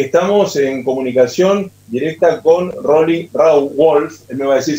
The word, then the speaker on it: Roly Rauwolf: Y le cuento a la gente que estamos en comunicación directa con Rolly Rawolf. Él me va a decir si lo estoy pronunciando bien.